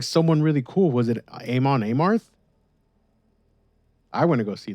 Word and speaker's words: Amon Amarth: Someone told me that it's pronounced Amon Amarth, but I still sometimes forget.